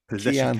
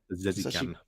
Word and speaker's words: Pezeshkian: Pezeshkian, I think. That's how you say it. Pezeshkian. Pezeshkian. It's got a K-I-A-N though. Kian.